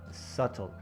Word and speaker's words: subtle: Subtle, subd. It's sub. The B is silent.